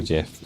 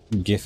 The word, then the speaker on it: GIF: It's just that GIF in particular is a like graphics image format or file, whatever it is. So it is a hard G.